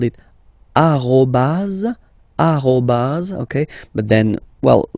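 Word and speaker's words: arobase: all right uh but officially it should be arobas okay so don't be surprised if someone is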